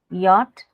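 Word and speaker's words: Jot: Like J is called yacht, right?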